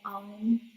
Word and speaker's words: Aum: You have to take a deep breath and exhale with the sound of Aum.